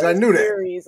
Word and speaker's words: Ceres: me and after dark it's michelle clark series like series i knew this series like world series right